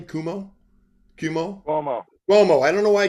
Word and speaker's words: Cuomo: How do you pronounce his name? Cuomo.